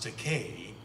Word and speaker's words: Takei: had to mess up i mispronounced your name and you're now mispronouncing my name i said it's pronounced decay however i don't object to